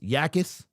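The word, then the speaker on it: Jacas: Oh, it's pronounced Yakis and not Jakis.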